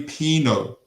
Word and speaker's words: Pino: I bet I said his name wrong. Scout report. Jeremy Pino, excuse me, forgive me, Jeremy Pino.